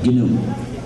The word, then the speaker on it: GNU: Se escribe GNU y en inglés se pronuncia GNU.